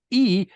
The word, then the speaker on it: hygge: So yes, I mean, absolutely, and I love this word, which definitely is now part of the English language, spelled Hygge, but pronounced hygge. Hygge.